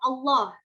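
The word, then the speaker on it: الله: yang mengetahui sebelumnya adalah huruf lam yang terdapat pada lafadz Allah ya ada dua cara membacanya yaitu tafkhim dan tarqiq yang pertama adalah cara membunyikan huruf-huruf hijaiyahnya huruf lam pada lam jalalahnya dengan tebal contohnya syarat yang pertama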